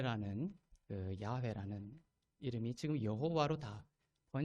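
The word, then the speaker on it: 야훼: 답으로 번역을 하기 시작 여호와 란 단어가 되게 원래 더 그 발음 교회의 맞는 발음이 아니었다 라는 문제의식에서 그릇된 것입니다 원래 야외 라는 단어가 더 요대 바벨을 나타내는 가까운 다른 이라고 볼 수가 있습니다 그래서 여호와 재인 에서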